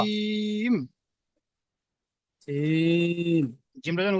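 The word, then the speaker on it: ج: জিম, জিমটা যখন উচ্চারণ করবেন, হা, জিমটা যখন উচ্চারণ করবেন জিভের মাঝখানটা উপরের তালুর সঙ্গে মিলাবেন। মিলালে কি হবে, চেপে উচ্চারণ হবে জিম।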